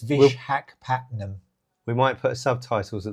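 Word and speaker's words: Visakhapatnam: I do, and I always have trouble pronouncing this place. It's I won't press you have for a go. it. It's Vishakhapatnam.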